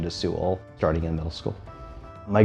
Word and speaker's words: Sewell: in a name book or originally and she pronounced it SE well for many years but I adjusted the pronunciation to Su starting in Middle School my grandparents lived in